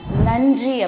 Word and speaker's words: நன்றி: நன்றி அப்படின்னு நாக்க கடிச்சு சொல்லணும். சரியா?